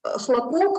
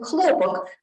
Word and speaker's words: хлопок: play on Russian words, homographs, chlopok, which is pronounced with the second syllable stressed and means a bang, and chlopok, which is pronounced with the first syllable stressed and means cotton.